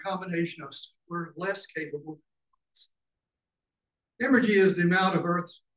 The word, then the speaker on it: emergy: The Odums rely on the concept of emergy, spelled with an M like emerge.